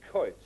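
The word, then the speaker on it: quoits: which they play and it's called Co now this is a CO it's spelled quo I TS it's like a big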